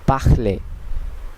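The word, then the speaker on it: parler: প্রথম নিয়মটি হচ্ছে শেষের শব্দটি অথবা শেষের কনসোনেন্টটি ফরাসিতে সাধারণত উচ্চারণ করা হয় না, যদিও লেখা হয় কিন্তু সাইলেন্ট থাকে। যেমন এখানে একটি উদাহরণ আমরা দেখতে পাচ্ছি, পাখলে, পাখলে, পাখলে, যার অর্থ কথা বলা।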